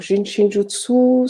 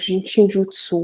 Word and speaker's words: Jin Shin Jyutsu: Jin comme un jin, shin comme le pays et jutsu. Il suffit tout simplement de prononcer toutes les lettres et le U se prononce en japonais le U. Donc, Jinshinjutsu.